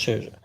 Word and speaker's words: Scherzer: I never can pronounce it. Sherza. Max Scherzer. Max Sherzer.